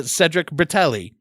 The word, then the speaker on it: Cedric Bertelli: talk to my new friend and yours uh Cedric bratelli did I say your name right I should